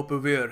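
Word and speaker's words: purveyor: ये British English में इसकी जो प्रोनंसिएशन है वो पेवेयर है सो यहां पर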